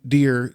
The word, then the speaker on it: Dheere: spells his last name dear DHE ar e and his little tagline is the H is silent but I am NOT I love that that's